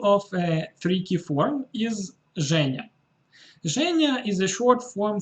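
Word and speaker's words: Женя: If you are French or you speak French, you can easily guess why this form is pronounced like this, Zhenya.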